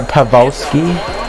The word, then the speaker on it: Pavelski: Get out here, Pavelski.